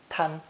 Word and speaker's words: 贪: It's pronounced first tone, tan.